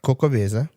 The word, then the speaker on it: Xocoveza: It is, now bear with me, I believe it's pronounced Cocoveza, but it's spelled Xocoveza.